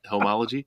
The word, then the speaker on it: Homology: Am I saying that right? Homology? You said it right. Yeah, that's right.